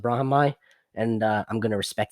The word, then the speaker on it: Brahimaj: his name is spelled brahm brahimaj but it's pronounced brahmai and i'm going to respect his name by